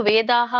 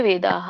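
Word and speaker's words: ವೇದಾಃ: ಸತ್ವಸ್ತೋ ನಿರ್ಯೋಗಕ್ಷೇಮ ಆತ್ಮವಾನ್ ಇಲ್ಲಿ ವೇದ ಒಂದು ವೇದಾಹ ಅಂತ ಹೇಳಿ ಇಲ್ಲಿ ಬಿಟ್ರೆ ವೇದ ಅಂತ ಹೇಳಬೇಕು ಅಲ್ಲಿ ಹ ಉಚ್ಚಾರಣೆ ವಿಸರ್ಗದ ಉಚ್ಚಾರಣೆ ಆಗಬೇಕು ವೇದ ಇಲ್ಲಂದ್ರೆ ವೇದಾಹ ಅಂತ ಹೇಳಿ ವೇದಾಹ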